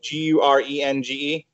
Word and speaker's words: Gurenge: G-U-R-E-N-G-E?